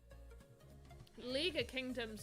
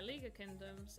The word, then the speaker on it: League of Kingdoms: i used to um leaguer kingdoms is probably one of the is it leaguer kingdoms i always say it wrong yeah league of kingdoms is one of the